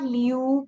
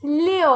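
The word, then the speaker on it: liù: It's not Liu. Please don't say Liu. It's Leo. Open your mouth. O, kind of like a O sound. Leo.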